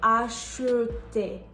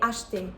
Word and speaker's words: acheter: For example, if you have the verb acheter, you're not going to say acheter. You just say acheter, as if the E isn't there.